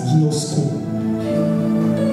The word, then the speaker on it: ginosko: La connaissance ginosko. Je vous ai dit que ça va être très, très technique. Ginosko, qui s'écrit G-I-N-O-S-K-O.